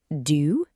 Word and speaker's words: du: Round your lips slightly. It is not pronounced exactly like the English word do.